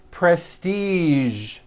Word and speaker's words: prestige: Now, there are only a few words that have the voiced zh sound at the end. A few of these words are the color beige, the word massage, and the word prestige.